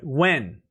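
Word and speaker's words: Nguyen: for kimar lee uh when drink one for her i'm gonna put it in chat because it's uh the pronunciation is when but it's spelled nagooyan uh whoops it's in the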